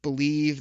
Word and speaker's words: Bleav: You made your debut on Believe, that's spelled BLEAV, in Lions, my other podcast that drops on Monday mornings.